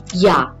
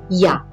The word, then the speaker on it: Ja: Next, if you want to say yes, repeat after me, Ja. Even though I'm writing J, alphabet J is pronounced as J, the sound of it is J, so repeat after me, Ja.